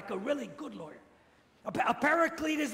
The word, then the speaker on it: paraclete: word translated Advocate is please repeat after me paraclete paraclete not like a parakeet like the bird but uh paracletes okay what is a